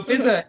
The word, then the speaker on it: Fiza: There's two a's, but it's not pronounced fizzah. It's just pronounced fizza. One of the a's is silent.